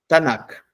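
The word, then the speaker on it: Tanaj: y ellos la pronuncian como tanac.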